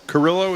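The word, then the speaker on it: Carrillo: Here's a clip of what uh uh orthopedic surgeon Adriana Carillo. Curillo is how you pronounce her last name.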